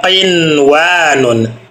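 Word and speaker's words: قنوان: Lalu contoh berikutnya adalah qinwanun. Qinwanun ada huruf nun sukun bertemu dengan wau dalam satu kalimat. Kalimatnya adalah qinwanun. Maka tidak perlu diikfakkan atau didengungkan.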